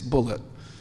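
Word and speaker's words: Bulliet: New York at Colombia he spells his name b u l l IE T and he pronounced it bullet he corrected me he said no my name's not bullier it's bullet and uh he's done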